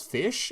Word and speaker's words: Ghoti: It is derived from the GH in tough, pronounced as an F, the O in women, pronounced as an I, and the T in nation, pronounced as sh. Most Ghoti monsters have names that are anagrams of words related to fish in various languages. So this archetype, you could literally pronounce it as fish, and you're not wrong.